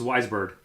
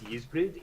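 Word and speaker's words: Ysbryd: If you want to pronounce it in native Welsh, it's Yizbrid.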